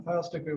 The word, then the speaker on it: Filesticker: you're comfortable with you want to pronounce last name it's like file sticker class meetings are monday